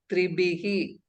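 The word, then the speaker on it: त्रिभिः: And that Bakara should be well pronounced. Mahaprana Bakara. And Visarga should be pronounced Tribihi.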